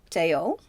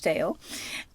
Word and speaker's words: Theo: Vincent also wrote a lot of letters to his brother Teao. Uh he's always called Theo in the films, but his name is Teao. H to Teao.